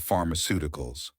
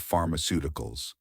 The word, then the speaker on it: pharmaceuticals: a F sound and that the letter C can have a SS sound, often before the letter II or E, or a K sound. Also, if you know the word pharmacy, you already know how to say the first half of pharmaceuticals.